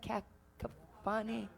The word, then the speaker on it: cacophony: Cacophony?